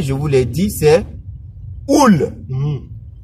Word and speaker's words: ul: Masculin singulier, je vous l'ai dit, c'est oul. Et quand je dis oul, je suis en train de prononcer ça en roumain. Au fait, si je devais prononcer en français, c'est ul.